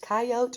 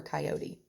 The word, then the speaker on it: coyote: are here's another factoid coyote can be pronounced coyote or coyote i obviously pronounce it coyote clumsy coyote said i'll